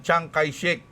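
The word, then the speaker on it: Chiang Kai-shek: Ah si tao pala yun si Chiyang si Chiek ah binibig binibigkas na Changai Shik Parang familiar sa akin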